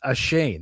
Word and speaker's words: Ashane: My name is Ashane. That's how you pronounce it.